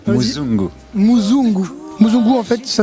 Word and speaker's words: muzungu: ma life aujourd'hui tu nous présentes ton album muzungu est-ce que je prononce bien c'est très bien prononcé muungu muungu mungu en fait ça veut dire l'homme